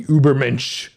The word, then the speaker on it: Übermensch: The Übermensch, the ideal of individual who creates their own values in the wake of God's death and rises above the conformist herd mentality.